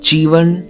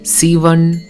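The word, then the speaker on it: சிவன்: is spelled like this this word can be pronounced Chivan Sivan or Jivan all of those and now believe it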